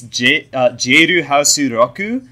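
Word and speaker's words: ジェイルハウス・ロック: but in Japanese, it's Jeiru Hasu Roku, which could literally be both. So both are right. Lock and Rock are pronounced exactly the same in Japanese, so fuck it.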